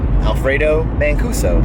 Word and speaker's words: Alfredo Mancuso: but you guys are mispronouncing my name, Alfredo Mancuso. It's pretty easy, it's phonetic.